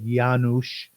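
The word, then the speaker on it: Janusz: a children's Constitution which is fascinating his name is spelled j n u s z yanush cor k r c z a k Rabbi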